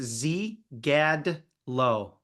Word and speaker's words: Zygadlo: say your last name so the Y silent it's Z Gad low Z Adler that's it